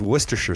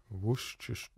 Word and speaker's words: Worcestershire: And the same way you say Worcestershire. It's Worcestershire sauce. Worcestershire.